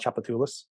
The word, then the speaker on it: Tchoupitoulas: the 70s called Wild Tchoupitoulas. Just check out the Wild Tchoupitoulas record. I will send you an email with the name because how it sounds isn't how it's spelled.